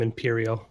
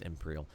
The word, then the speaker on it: Empyreal: Is it Empyreal? Have we understood the pronunciation? We'll go ahead. I've been calling him Imperial. Wow, that's Empyreal.